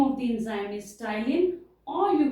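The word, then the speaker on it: ptyalin: of the enzyme is tylene p is silent here and the name of the enzyme is stylin or you call it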